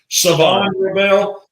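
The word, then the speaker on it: Shavon Revel: They said the H is silent on. Is it Savon Rebel?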